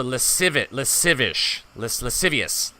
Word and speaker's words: lascivious: Pronounce the SC as in an S sound. So, lascivious. Lascivious.